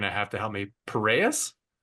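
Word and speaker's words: Piraeus: at the the University of I'm going to butcher the name here. You're going to have to help me. Pereus. Yes, Pyreus.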